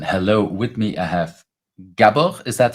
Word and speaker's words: Gábor: hello everyone and hello with me I have gab is that how I should pronounce your name yes yes that's uh you